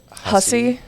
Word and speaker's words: Hussey: How do you pronounce her name? Olivia Hussey.